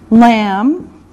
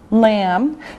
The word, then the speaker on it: lamb: Lamb. Lamb. Now remember, the B is silent. No sound, just lamb, okay?